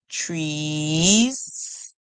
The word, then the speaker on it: trees: e together e tree trees trees trees and the S at the end we hear a song like z z and that happens a